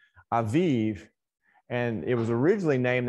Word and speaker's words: Aviv: Sometimes we transliterate it in English as Abib with B's, but the bait, but it actually is pronounced with the V sound. Aviv.